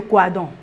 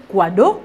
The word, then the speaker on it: Coadon: je vais chez monsieur Coadon. Et avec défaut de prononciation, les gens disaient quado au lieu de coadon.